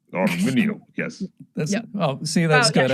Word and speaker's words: Arminio: I think we should get some glottals in Arminio. Arminio, yes.